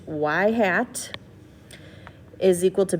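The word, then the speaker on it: ŷ: in the form of y hat that's literally pronounced y hat is equal to b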